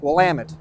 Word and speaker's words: Willamette: we can help them out by saying it's Willamette damn it so for thousands of years and